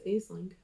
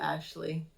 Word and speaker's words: Aisling: I thought it was Aisling. Well, it's spelled Aisling, but Yeah. it's Is that how you pronounced pronounce it? Ashley.